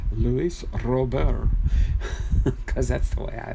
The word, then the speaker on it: Luis Robert: And I guess he got interviewed and he said, no, it's Luis Robert. It's Luis Robert, just Luis Robert.